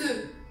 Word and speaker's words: œufs: Mais des œufs, eggs, on ne prononce pas le F.